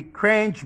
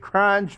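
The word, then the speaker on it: Kerch: or so you know the cringe Bridge with the k-e-r-ch crunch Bridge excuse me pronunciation the Ukrainian standard on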